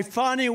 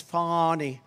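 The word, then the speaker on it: Fani: persecution in Georgia by fonnie Willis you know about fonnie Willis right has anybody fonny it's pronounced fonnie F ni I that's fan any but she likes it funny when she became the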